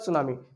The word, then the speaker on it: tsunami: लिखा जाता है ठीक फिर इसका सुनामी तो इसमें साइलेंट रहता है ठीक है सेंड